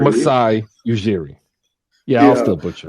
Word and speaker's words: Masai Ujiri: so I don't butcher it because I almost butchered it again. Masai Ujiri. Masai Ujiri.